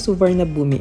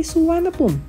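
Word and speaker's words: Suvarnabhumi: Andito na tayo sa suvarna boomi airport and trivia the name suvarna Bomi means land of gold at ang correct pronunciation daw nito ay suan pum nabubulol buulo pa ako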